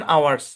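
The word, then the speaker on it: hour: মানে হচ্ছে আপনার লেনদেনের সময়সীমা লেনদেনের সময়সীমা ট্রাজেকশন আওয়ারস ওকে তারপর দেখেন এখানে এই শব্দের অর্থ কি এটার অর্থ হচ্ছে অর্থ না উচ্চারণ কি এরিয়া এরিয়া এখানে ভাগ হবে এখানে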